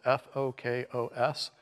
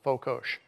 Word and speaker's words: fokos: It's spelled F-O-K-O-S. Hungarians pronounce the plain S like in sugar, so fokos rather than fokos.